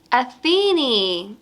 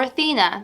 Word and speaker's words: Athena: goddess is going to be atheney or Athena depending on how you pronounce it she is one of